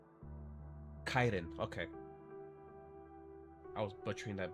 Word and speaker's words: chiton: What's a Chitan? I don't even know if that's how you say it. It might be Kaiden. Oh, it's a Greek wear. Okay. Actually did not know that. And it's pronounced Kaiden.